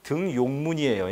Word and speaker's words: 등용문: 표준 발음은 등용문이에요. 예? 등용문이 아니에요. 알겠죠? 함부로 니은천가 들어가면 안 됩니다. 한자에다가 니은천가 조심해야 되겠죠.